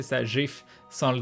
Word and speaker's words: GIF: seul à prononcer ça GIF sans le D, quoi. À la base, GIF, ça veut dire Graphics Interchange Format. Donc c'est logique que ce soit un G et pas un J.